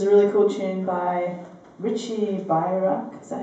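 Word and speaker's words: Richie Beirach: So we're going to start with Loft Dance, which is a really cool tune by Richie Bayrack.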